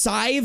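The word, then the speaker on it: Sadhbh: But when the name is spelled S-A-D-H-B-H and it's pronounced Sive or some shit like that, don't come at me. I'm sorry. I'm gonna be so real. Cool name? You're wrong. In what world does HBH translate to Ive?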